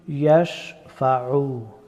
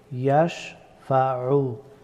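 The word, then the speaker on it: يَشْفَعُ: মান যাল্লাযী ইয়াশফাউ। ইয়াশফাউ, আইন হরফটি গলার মধ্যখান থেকে উচ্চারিত হয়।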